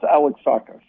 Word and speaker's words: Alexakis: Art Alexakis from EVERCLEAR is on the line. How you doing, Art? I'm doing okay. It's pronounced Alexakis. Thank you. Alexakis.